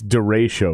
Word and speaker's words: Derechö: are you coming you're you're officially pronouncing it derecho uh i you know i'm uh i'm a white boy because it's de ratio right right i think that's the correct pronunciation it is one of